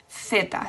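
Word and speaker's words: zeta: I griega is Y, and then Z is theta. So again, the same pronunciation as the C. Theta, with your tongue between your teeth, theta.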